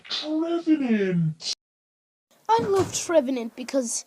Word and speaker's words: Trevenant: It's pronounced Trevenant.